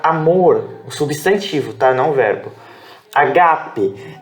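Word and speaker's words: ἀγάπη: substantivo tá não verbo Ágape detalhe que essa essa pronúncia ela tem a pronúncia tônica aqui ó ga gaga rock h e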